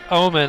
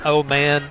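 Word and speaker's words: Ohman: And so Omen, it's spelled O-H-M-A-N, could be otherwise said as O-Man.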